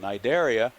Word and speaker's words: Cnidaria: term before today that it begins with a c but the c is silent so cnid which is the uh derives from the greek word for a nettle as in the plant